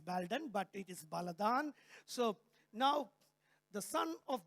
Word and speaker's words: Baladan: I'm telling you exactly how the Assyrians pronounce it. Nathan would be looking at me and saying, is it Baldan? Yeah, you can say it's Baldan, but it is Baladan.